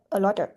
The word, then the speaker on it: a lot of: So we pronounce the T like a d quick a quick d. So a lot of a lot of a lot of next one we have get off.